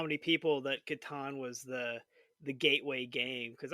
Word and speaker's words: Catan: How do you pronounce the Klaus Teuber classic? It is Yes. Catan.